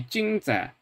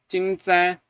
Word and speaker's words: 正在: So just this phrase would be 正在, but in a sentence it's 正在 because the second tone, the second syllable here has a null tone, a zero tone basically, or in Chinese linguistics parlance, it is a 轻声, a light tone, a neutral tone, right?